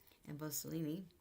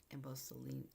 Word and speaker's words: Amboseli: Falls with Kenya's um Emboselini I think it's pronounced Amboseli Emboseli also their Marcel Mava